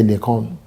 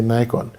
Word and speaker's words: Nikon: He said, well, if you want to pronounce it the English way, they say Nikon. Americans say Nikon.